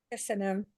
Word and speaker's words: Köszönöm: Köszönöm.